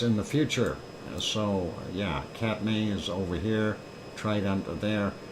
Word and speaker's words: Katmai: Why do they spell it May if it's my?